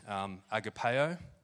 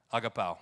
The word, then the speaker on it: agapao: Secondly, in the Greek, agapeo. Now, it's wrong, isn't it, Pants? Pronounce it for me. Agapao. There it is.